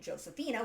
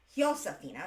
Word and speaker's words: Josefina: I keep pronouncing it Josephina, which is the European, or rather the English form of this. It would be Josefina because, again, Spanish doesn't pronounce J. It's pronounced as an H.